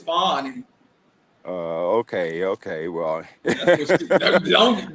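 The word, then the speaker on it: Fani: of the reasons why as you pronounce her name fonnie yeah that's what she say she say Fanny is not right that's she say people sexualizing her when they say Fanny she said it's fonny oh okay okay well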